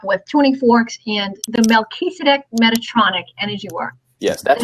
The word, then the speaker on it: Melchizedek: Melchizedek, so it's Mel, like Mel Gibson. Okay. Keys, like a set of keys, so it's Mel Keys. A deck, like a deck of cards.